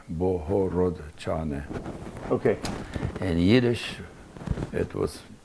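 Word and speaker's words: Bohorodczany: c z as in zebra a and y boho rod chaney okay and yiddish it was it was called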